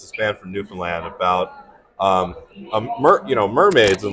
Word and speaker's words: Newfoundland: Newfoundland. Close. It's more like Newfoundland. Like you don't say the D.